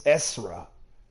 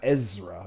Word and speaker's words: Esra: Oh, it's Esra. It's not Ezra. It's Esra.